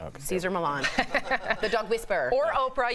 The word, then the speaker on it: Cesar Millan: Caesar Milan.